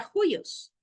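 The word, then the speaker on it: υἱός: ejemplo, en la palabra juyos. Miren, aquí está el espíritu rudo sobre la segunda vocal, pero es rudo. Entonces, ¿cómo se pronuncia? Rudo. Juyos con esa G, ¿verdad? Juyos.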